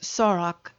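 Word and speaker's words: сорок: way with the exception of 40 which is Sorak 90 is 10 taken from a hundred and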